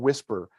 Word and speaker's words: WSPR: about weak signal propagation reporter or something called whisper is how it's pronounced it is a digital mode and it's